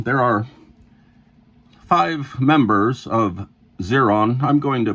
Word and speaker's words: Xeron: are five members of zeron I'm going to pronounce it zeron it's um the name is x e r o n so it is zeron and um Jeffrey bolck